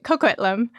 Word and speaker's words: Coquitlam: How do you say these names? You're saying it right, Coquitlam.